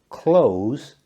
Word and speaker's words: clothes: the team to Victory next we have clothes pronounced close it means to shut something